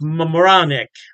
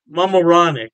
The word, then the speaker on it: Mamaroneck: Halftime Beer has two locations in New York State, Poughkeepsie, and I believe it's pronounced Mamaroneck. Mamaroneck. Yeah, don't quote me on that pronunciation.